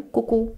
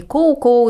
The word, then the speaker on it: CouCou: во-первых чтобы запомнили название Куку Да потому что оно читается по-французски соответственно Мне нужно просто затвердить что это не коу-коу или не Соу Да что Это куку то есть Первое -